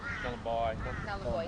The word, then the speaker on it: Nullarbor: So Gove is the boat club there we Nullarbor, stay at.